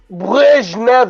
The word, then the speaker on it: Brezhnev: Yo, B, pronounce that for me, man. Brezhnev Joseph. Brezhnev.